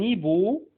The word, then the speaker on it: hibou: طبعا عندنا القش معروف ان هي مش بتتنطق. un hibou, un hibou, un hibou.